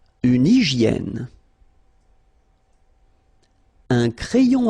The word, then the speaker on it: hygiène: Une hygiène. So remember we've got this Y here, vowel, and it's pronounced like E, okay? Hygiène. H doesn't exist, H doesn't exist in French, so hygiène.